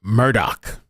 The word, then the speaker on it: Murdaugh: like a better alternative by the way it's Murdoch how how where the hell am I seeing that this is supposed to be pronounced pronounced as Murdoch I'd like to know